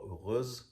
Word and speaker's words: heureuse: I put the spelling here, okay, heureux or heureuse, but we really don't pronounce the H, we don't pronounce the X, so really listen more to the pronunciation, heureux or heureuse.